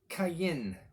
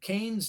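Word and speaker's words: Qayin: his name is kane now in the hebrew it is not spelled c-a-i-n it is spelled with a q q-a-y-n is a best transliteration uh kane something like that and it's a play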